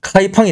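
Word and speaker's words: 开封: 자 여기가 개봉 시인데 중국식 발음으로는 카이펑이 됩니다 황하가 이렇게 싹 흐르고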